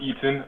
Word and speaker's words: Etienne: Yeah, how about over to Etienne, if I'm saying it right? Yeah, I'm Eaton. Eaton.